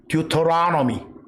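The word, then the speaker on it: Deuteronomy: 듀토라노미. 제가 저음을 적어놨어요. 듀를 두라고 발음해도 돼. 또 혀 굴리기 좋아하는 사람들은 터를 넣으라고 해도 돼.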